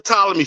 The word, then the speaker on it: Ptolemy: that because there are a lot of names spelled like that where the first letter is silent. So I'm gonna say the Ptolemy family.